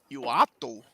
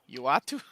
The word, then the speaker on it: Uatu: Uatu. Uatu? Yeah, Uatu. He just pronounces it Kevin.